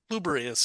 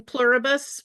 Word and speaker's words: Pluribus: Well, what we're going to be talking about is Bubberus. Am I pronouncing it right? I'm not good on my Latin, unfortunately enough. I mean, I've just been saying pluribus as if one were an I.